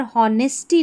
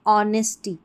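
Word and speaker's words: honesty: यहां पर होनेस्टी नहीं ऑनेस्टी। हॉनर नहीं ऑनर।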